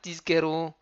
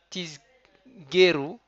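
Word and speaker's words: תזכרו: Je vais me concentrer pour bien sortir le zain comme il faut. Lema an tiskeru. Et il ne faut pas dire tisgeru avec un guimel. Il faut bien que ce soit un kaf.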